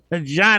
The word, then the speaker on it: Jean: And while we're at it, Ray, you can call me Jean because that's really how my name is pronounced.